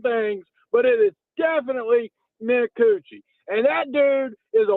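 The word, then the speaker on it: Minicucci: bunch of different things, but it is definitely Mikuuchi and that dude is a warrior.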